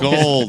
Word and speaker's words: Gould: Gould? Yeah, no, it's gold.